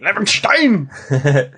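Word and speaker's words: Levenshtein: Levenstein.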